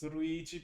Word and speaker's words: Luigi: choose but informal Luigi is still Luigi in Japanese although they might pronounce it more as ruigi because they don't have the l sound but I wasn't aware